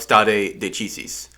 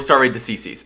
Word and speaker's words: stare decisis: It's pronounced a lot of different ways, but I say stare decisis, and some people say stare decisis, or something like that, because, I don't know, because they don't speak Latin, I guess.